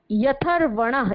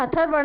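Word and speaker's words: ह्यथर्वण: इसी के आगे है, यहाँ पर ह और य पैर में लगा है ह के, तो जो पैर में ह के साथ अगर य आता है तो य का उच्चारण पहले किया जाता है, यथर्वण है, हथर्वण नहीं होगा, ठीक है।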